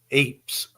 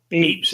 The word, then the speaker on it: Ypres: right there wipers how' you spell how you pronounce that hers aers Ypres Eeps Eeps is a highlight and Hill 62 is the